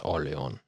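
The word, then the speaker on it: Orléans: Orleans. Orleans. Orleon. Orleon. If you're going to pronounce it like it's French, you don't pronounce the S. It's Orleon.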